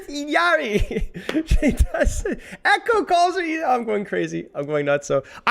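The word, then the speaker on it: Illari: I know how she pronounces it. She says Iyari.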